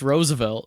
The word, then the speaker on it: Roosevelt: Roosevelt a racist man Rosevelt what is he Roosevelt Roosevelt two o's like moose it's pronounced Roosevelt I've never heard Rosevelt